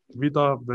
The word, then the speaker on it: Vita Vea: And the question is, how do you say your real name? Vita Vea. That's how you say it.